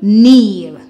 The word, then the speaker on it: kneel: Remember, the K is silent. N, eel, kneel.